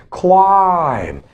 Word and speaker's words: climb: Climb. Climb, climb up, okay? Climb, not climb or climb. Climb, climb, climb, okay?